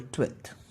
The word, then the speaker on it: twelfth: 12th में F भी आता है गाइस जो साइलेंट होता है. इट is called 12th.